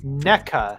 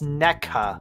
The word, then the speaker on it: NECA: NECA. It's NECA, okay? Yeah.